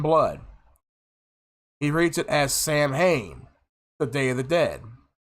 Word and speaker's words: Samhain: Now, when I pronounce the name Samhain, and it's gonna probably confuse some people. It confused me at first when I learned that its true interpretation, its true sounding of the word is Samhain. It's spelled out as Samhain.